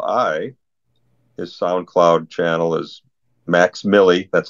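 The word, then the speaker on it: Mvxmilli: i l l i his SoundCloud channel is Max Milly that's how it's you how you pronounce his name but it's spelled mvx Mi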